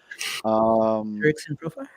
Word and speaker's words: Jurickson Profar: I was thinking about shout out me for pronouncing his name correctly. One shot. Jurickson Profar.